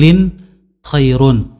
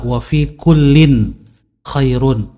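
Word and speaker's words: وَفِي كُلٍّ خَيْرٌ: ada kebaikan of ikut Kim Hairun ah bacanya Ingatkan adalah Wafiq Ulin Khairun lemnya tanwin movie coolin Khairun dan pada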